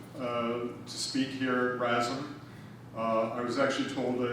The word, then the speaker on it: RASM: be invited to uh to speak here at rasmu i was actually told that it's pronounced razor which is an interesting transition to what